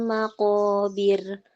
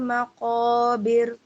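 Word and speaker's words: المقابر: Alhaakumut takatur hatta zurtumul maqobir. Nah, Ibu perhatikan. Alhaakumut takatur ini ro tebal. Hatta zurtumul Hatta zur tebal zurtumul maqobir bir tipis.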